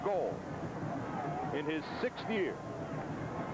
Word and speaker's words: Gould: And Dwayne Goldborn, actually it's pronounced Goldborn, spelled Gould, pronounced Gold, in his 6th year not such a big deal.